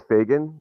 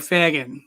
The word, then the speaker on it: Fagan: pronounce your last name uh it's fagin f-a-d-a-n just like it's spelled i just wanted to